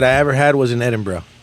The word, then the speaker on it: Edinburgh: Edinburgh. Scotland. Not Edinburgh. They'll curse you out if you say Edinburgh. Edinburgh. Like, what's up, bro? Edinburgh. Yeah. If you say Edinburgh, they're gonna correct. They're gonna make fun of you.